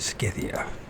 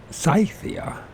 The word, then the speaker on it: Scythia: find out pronunciation cyia scythia skia s pronounced scythia I turn believe in that but if they say so scythia it's scythia scy why can't uh